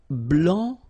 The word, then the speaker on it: blanc: here, okay, so here, masculine, blanc, don't pronounce the final C, and then blanche.